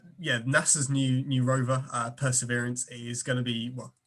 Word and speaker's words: Perseverance: probe on mars um which i think is pronounced perseverance i keep messing up where the accent is thank you um so